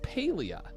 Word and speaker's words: Palia: It says it says it's pronounced Paleia.